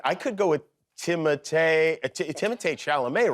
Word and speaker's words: Timothée: Well, honestly, it's Timothée. But I would not oblige you to say it like that, and it could be Timothy or Timmy or Doug or It's Alan.